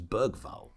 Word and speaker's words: Bergvall: player if he was Bergvall. Very well. It sounds a bit more robust. I think Bergvall wouldn't have gotten injured. The hard G in the middle just sounds a bit more.